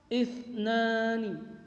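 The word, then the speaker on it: اثنان: Isnani, isnani, isnani, yaitu huruf sa-nya itu titik 3, huruf sa kecil bertitik 3 di atas.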